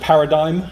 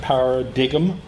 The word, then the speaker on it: paradigm: minutes by the way the word is pronounced paradigm not power dig'em I'm here to represent